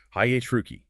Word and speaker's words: hierarchy: The difficulty here is managing that cascade of vowels and syllables while making sure the stress falls firmly on the first syllable. Hi-H-Ruki.